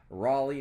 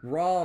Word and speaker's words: Rawle: Whispers And that is Raley now did I say that name right ra raw okay so you don't pronounce the E okay gotcha all right